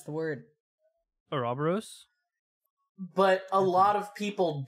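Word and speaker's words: ouroboros: people do pronounce it oroboros yeah I pronounced it Ora boros for a long time until I was corrected yeah it depends on how Greek you want to be if you want to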